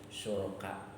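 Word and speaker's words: شركاء: Nah dibacanya syuraka, karena jadi khobar ya, khobar anak.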